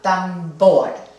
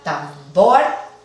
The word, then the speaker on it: tambor: entre ellas y la sílaba tónica debería ser la última tambor ahí sí la sílaba acentuada tambor entonces no requiere del